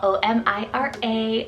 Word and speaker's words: Omira: meaning of life like white waves O'Meara spell o-m-i-r-a omira this one's a beautiful Muslim name meaning